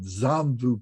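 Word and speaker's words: Jambu: i just remembered something the words here it's it's spelled j-a-m-b-u-d-v-i-p-a um it's pronounced like d-z-a-n zombu people and zom means purification so this is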